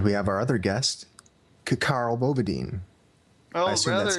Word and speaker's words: Ckarl_Bobadine: have our other guest K Carl badine I assume that's how you pronounce it is that right either C's supposed to be silent but people call me c Carl badine I like Carl because